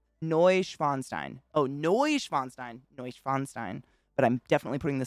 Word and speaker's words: Neuschwanstein: schweinstein now schweinstein noy schweinstein oh noy schweinstein neuschwanstein but i'm definitely putting the syllable on the wrong place but thank you